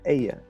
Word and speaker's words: Eyði: Eyði? Eyði? No, in Faroese, the D with the line through Mm. is usually not. It doesn't usually have a sound at all. So it's Eya, Eya.